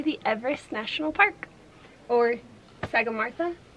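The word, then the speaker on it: Sagarmatha: Or Sagamartha. Or Mata. Mata. Because in Nepali, TH is pronounced with a T.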